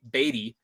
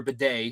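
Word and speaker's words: Badie: to say his name he was on the radio and said that his name was ba batty not baddy or baday because CBS continually tries to call him Bay but Tyler baddy batty had a um s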